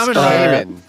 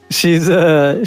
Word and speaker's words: Kamen: I believe it's Kamen. Kamen. She's been cast to play Red Sonja in the new Red Sonja movie.